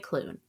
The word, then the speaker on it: Klune: And today we will be discussing and reviewing The House in the Cerulean Sea by TJ Cloon.